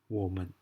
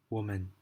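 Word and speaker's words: 我们: again well how come there is no tonal size above the men that is because it is not part of the four tones it is a neutral tone and doesn't have a sign it is just being pronounced a short in life quickly like that man okay let's do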